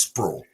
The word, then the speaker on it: Sprewell: place called squirrel Bluff spelled Sprewell I don't know how they get the word sprawl out of it but it's sprawl but it's a it's